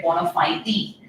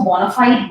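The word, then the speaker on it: bona fide: For example, एक famous word है बोनाफाइडी। नाउ लोग इसको बोनाफाइड बोनाफाइड कहते हैं, but actual pronunciation native speaker के हिसाब से इट इज बोनाफाइडी।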